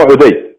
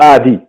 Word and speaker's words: آدي: يابا عندنا اسماء عدي فسموه عدي ايضا لكن هو اسمه ادي احنا نسميه شيخ عادي لحد الان لا يوجد يزيدي يقول شيخ عدي او شيخ عادي لا